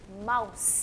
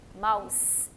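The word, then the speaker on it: mouse: अब अगेन यहाँ पे कौन सा साइलेंट है वाउल, माउस, ई, गुड, क्योंकि एंड में ई है, यहाँ ओ यू पहले आ रहे हैं, तो माउस, इन दोनों की साउंड आ रही है, माउस।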